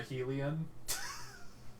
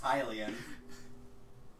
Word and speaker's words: Hylian: the blood of a Helion. So it's pronounced Hylian.